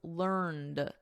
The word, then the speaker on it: learned: In American English, which I teach, the preferred spelling and pronunciation is learned. So notice we have a soft T here, learnt. And then in American, learned with a soft D, learned.